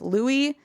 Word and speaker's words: Louis: struggle with this because it's spelled like Louis but pronounced Lou mhm sure so excuse